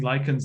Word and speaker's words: lichens: So just to help anyone who made the same mistake I did and spent their entire life mispronouncing lichens as lichens, this is not lichens from Underworld.